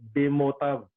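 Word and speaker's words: בְּמוֹתָיו: Ang bigkas dito, Bemotav. B-E-M-O-T-A-V. Pero hindi naman Hebrew yung dila ko, kundi Pilipino.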